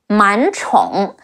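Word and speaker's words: 满宠: The ong sound is close to the English own, but make sure your mouth shape is rounder and make the sound longer.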